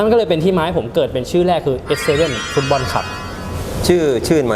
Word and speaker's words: ACE7: แล้ว ก็ 7 คน อาจ จะ เคย อ่าน ผิด เป็น บ้าง A C E บ้าง แต่ จริง ๆ มัน ออก เสียง เป็น S7 ตัว S เลย ครับ บ อ่ะ นั่น